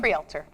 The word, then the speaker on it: Kreilter: Coming up is Thanksgiving, and on Thanksgiving there's a very unique 5K run that is coming along for Tyler Kreilter. Did I pronounce it right? Kreilter.